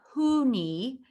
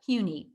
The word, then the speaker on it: HUNI: you pronounce the name it's not huni and it's not honey but hue like the color and knee like the body part huni in 1980 indiana landmarks